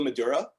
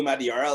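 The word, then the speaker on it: Madureira: Like I always pronounce it Joe Madura, and I found it was Joe Madiara.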